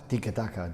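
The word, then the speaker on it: tiki-taka: And how do you pronounce it properly? Tikkataka.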